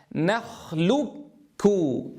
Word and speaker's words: نخلقكم: إذا كافا مشددة نخلقكم انظروا ونتنبه إلى الضم والإرجاع لأن اللام مضمومة وفي الإدغام الكاف الأولى ساكنة والثانية مضمومة إذا ماذا كيف نقولها؟